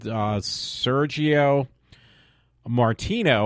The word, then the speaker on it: Sergio Martino: was like I said Sergio Martino I think that's the way you say his name doesn't sound like I'm saying it the right way like as far as being Italian way of saying it um but yeah was